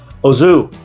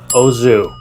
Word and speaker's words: au jus: The proper way to say this word is, you ready for it? It's not what you think. Ozu. Nothing crazy, nothing fancy, just nice, simple, proper. Ozu.